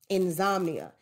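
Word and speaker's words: Inzombia: This is probably my favorite album, Insomnia, which is very hard to pronounce, but it's like insomnia, but it's like zombie instead of somni.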